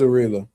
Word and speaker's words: Abdullaev: I think I said his name. I I don't know. I probably said it right. No, I ain't say his name right. I said that last time and I was wrong. Uh let me see. Who is that dude name? Yeah, it was Abdullaev.